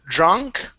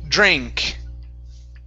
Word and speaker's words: drink: is the word drink instead of drunk it's dre drink drink okay now give me